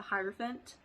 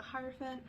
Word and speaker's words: hierophant: be talking about the hierophant um that's how i pronounce it i don't know if people pronounce it different that's the only way i've ever heard it pronounced but regardless um if